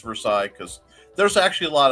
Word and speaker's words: Versailles: it is some people some people will call it for sales usually it's pronounced versailles because there's actually a